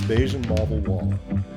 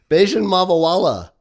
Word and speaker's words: Bajun Mavawalla: This week, the most interesting person you've never heard of is My name is Beijian Mal Wall and I'm the most interesting person you've never heard of because I can say my name backwards.